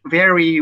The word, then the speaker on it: very: Chris bilang, you speak English very well. You speak English very well. Jadi bukan ferry, ferry itu kapal ferry itu. Tapi pelafalannya itu antara V dan W, kayak orang Bajawa biasa omong itu.